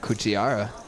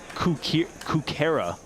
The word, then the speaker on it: Kukera: Kuchiara. No, it's Kukera.